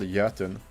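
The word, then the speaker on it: Jötunn: It's actually Scandinavian and it's called Jotun. Jotun. So it's really funny hearing everyone that I play with mispronounce it all the time because or the letter like the O with 2 dots above them isn't a thing in most languages.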